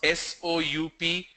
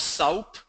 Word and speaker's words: soup: Vasavi asked me a question, how do you pronounce S-O-U-P? I have heard people pronounce that as soup. It's not soup, it's soup. S-O-O-P, imagine the spelling is S-O-O-P, it's soup.